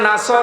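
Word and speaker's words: نصر: তখন বিষয় দেখতে পাবেন যদি মুখটা গোল না করে সিন দিয়ে উচ্চারণ করেন অর্থ হয়ে যাচ্ছে হে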